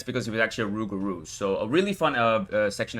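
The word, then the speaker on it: rougarou: Uh yes, the official pronunciation is Rugaroo as the game itself suggest uh stated.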